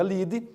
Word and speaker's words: lead: título se chama livre se escreve Lead mas se pronuncia lide da reportagem diga quais